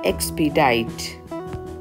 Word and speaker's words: expedite: xp diet xp diet the pronunciation for this word is x-pay diet expedite meaning to cause